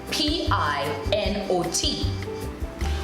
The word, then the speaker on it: Pinot: Pinot is spelled P-I-N-O-T, which in English, if we are pronouncing that word, it would be Pinot. But once again, in French, we take the T away and it's Pinot Grigio.